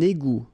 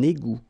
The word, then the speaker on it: égout: Okay, little link between the two. Un égout. Final T not pronounced. Un égout.